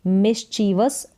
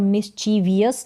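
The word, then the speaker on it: mischievous: है तो उसके लिए मिसचिवस वर्ड का यूज होगा मिची वस वस करके तो यहां पर मिची वियस नहीं बोलेंगे मिसचिवस इसका करेक्ट उच्चारण है आगे है रिफ्यूज तो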